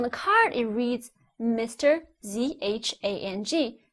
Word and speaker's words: Zhang: So ZHANG together is pronounced as zhang. So you call someone Mr. Zhang, and you should not call someone Mr. Zhang. See? That's what I mean by you cannot pronounce Pinyin as if they were English.